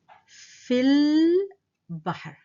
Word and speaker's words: في البحر: The second line reads في البحر. في البحر. So I've also omitted these 2. I've dropped them and haven't pronounced them. I'm not saying في البحر.